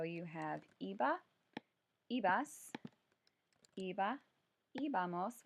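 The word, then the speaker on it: íbamos: So you have iba, ibas, iba, ibamos with an accent on the I, and then iban.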